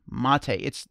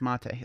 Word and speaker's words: MATE: No, it's named after yerba mate.